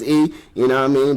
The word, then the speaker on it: Eay: E motherfucking Y pronounced as E.